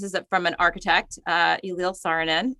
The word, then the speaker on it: Saarinen: So this quote, this is from an architect, Elil Saarinen, says, am I pronouncing it correctly? Do you know? I do not speak Finnish. I think know. It's Saarinen, Elil Saarinen.